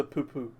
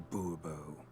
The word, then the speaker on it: Bourbeau: Monsieur de Poupou. Fine. Monsieur de Bourbeau. The emphasis falls on the last syllable.